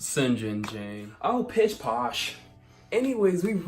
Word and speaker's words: St. John: John it's pronounced sin Jane Jane Oh pish-posh anyways we've realized that our